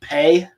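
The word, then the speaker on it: phat: Mantra P very often spelled p h a t but pronounced pay it means crack or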